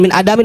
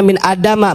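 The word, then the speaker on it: من آدم: Nah ini nanti kalau ada orang yang sok komentar gini, loh itu Ustaz jangan min adamin, bacanya min adama. Betul memang isim ghair munsharif, tapi ini ada qaufiyah di dalam nazam.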